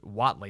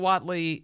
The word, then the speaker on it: Whatley: Donald Trump has endorsed a man by the name, I think is the last name is pronounced Whatley, Michael Whatley, chairman of the North Carolina Republican Party, to succeed Ronna McDaniel.